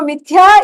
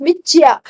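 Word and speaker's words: मिथ्या: Somehow the THY becomes CHY. So mithya is pronounced michya.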